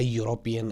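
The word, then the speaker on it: European: से स्टार्ट होता है ए यूरोपियन आएगा ये तो ई से स्टार्ट होता है लेकिन यहां पे वाई की आवाज पहले आती है य की आवाज और ये कंसोनेंट साउंड है तो दैट मींस यहां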